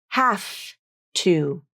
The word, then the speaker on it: have to: The phrase have to is almost always pronounced like have to, have to. The final V in have loses all of its voicing when it links up to the voiceless T in to.